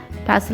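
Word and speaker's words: pestle: पैसल में टी जो है वो साइलेंट हो जाएगा।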